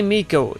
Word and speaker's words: Mikko: thing at a time they say Mikko it looks like Micah but I mean I